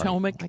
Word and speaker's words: Potomac: Did you hear about all the dumping that went into the Potomac? How do you say that? Potomac. Sorry. Potomac. Why could I not pronounce that?